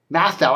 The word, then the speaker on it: Mathieu: uh also um joe matthau i think that's how you pronounce his name m-a-t-h-i-e-u i would say math now joe matthau uh is